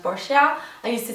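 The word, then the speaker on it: Boscia: of the brand that I really like is bosia apparently someone told me that it's supposed to be pronounced bosia I used to say BOS but whatever and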